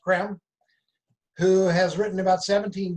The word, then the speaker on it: Creme: spelled c-r-e-n-e it looks like cream but it's pronounced creme who has written about 17 books they're available